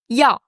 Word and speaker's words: 药: Faut pas le considérer comme deux sons séparés, c'est vraiment un son.